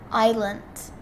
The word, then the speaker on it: island: okay perry ravi the s is silent island island i i lent i learned wait is